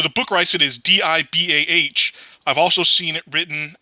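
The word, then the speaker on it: DIBAL-H: book rice it is di bah I've also seen it written as di b al h and so sometimes I've seen people pronounce this dye ball this is short for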